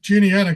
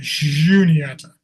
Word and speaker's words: Juniata: Today we use the hard J sound, but originally it would have been Juniata.